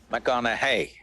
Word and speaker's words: McConaughey: try the second name mcconnell hey rhymes with what would madonna say so so i know you're matthew mcconaughey but do i know